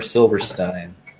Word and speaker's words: Silverstein: all of you, is Silverstein's 2005 album, Discovering the Waterfront. First things first, do you pronounce it Silverstein or Silverstein? Because that's Silverstein, come on.